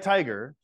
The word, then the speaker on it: tiger: are exceptions right but like tiger the reason that the I says I instead of T Tigger the the Winnie the